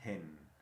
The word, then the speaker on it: hen: Y vas a ver que entonces en inglés la H siempre suena como J. Gallina, hen, hen, hen.